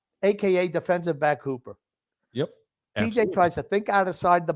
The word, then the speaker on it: TJ: not TG. Thank you very much. It's TJ. Two letters.